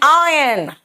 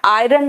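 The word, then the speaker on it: iron: आ रहा है एंड आयन बेटा आयरन नहीं होता इट्स आयन आर साइलेंट यहां पे आयन है ना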